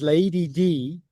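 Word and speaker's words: Leidy: which means which is pronounced as Lady D which means Lady D.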